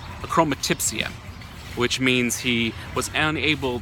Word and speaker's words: achromatopsia: Neil is an artist who was born with a unique condition called, I'll say it correctly, achromatopsia, which means he was unable to actually see colors at birth.